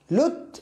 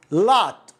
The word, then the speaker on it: lot: نرجع نفس المشكلة في أول كلمة ينطقوها اللوت اللوت وهي لا لوت، هذا بالعربي الأو مفتوح. أرجع وأقول لك أنه أغلب حالات نطق الأو هو مفتوح كأنها فتحة. يعني كيف كأنه فتحة؟ يعني كأنه ألف اللات اللات لات وليست لوت.